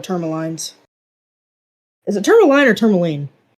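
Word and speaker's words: Termalaine: He got 4 tourmalines. Is it tourmaline or tourmaline? Oh. I keep saying tourmaline, but Pat says tourmaline, so I'm like, well, am I wrong?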